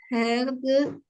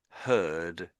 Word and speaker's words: herd: So, untamed herd of horses. So, the I'm saying the H here. I'm saying the H. I think you missed it out maybe.